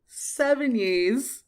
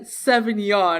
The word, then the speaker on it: Sevigny: So we were talking about Lizzie, and she couldn't pronounce Chloe Sevigny's name. Sevigny. And I said Sauvignon, Sauvignon.